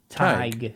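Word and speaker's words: Tadhg: How to pronounce it? Tighe.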